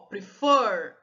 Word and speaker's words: prefer: Ó, prefer, a sílaba tônica, a sílaba forte é o for.